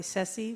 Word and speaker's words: Ceci: I go by Ceci, which rhymes with Jesse.